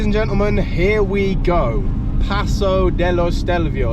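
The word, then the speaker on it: Passo dello Stelvio: gentlemen here we go Paso Deo stelvio is how they say it in in Italy and we say bloody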